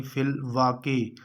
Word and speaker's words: فی الواقع: ہے وہ یہ ہوگا، یعنی فی الواقع، واو کے اوپر زبر ہے اور قاف کے نیچے زیر ہے۔ 24واں سوال ہے، یہ